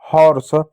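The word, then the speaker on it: horse: होगा स, हो जाएगा हॉर्स। हॉर्स मिस होता है घोड़ा, ई साइलेंट होगा।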